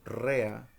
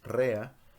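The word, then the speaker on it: רֵעַ: Y aparece la expresión prójimo, que viene del hebreo rea, con acento en la e, rea, y quiere decir amigo,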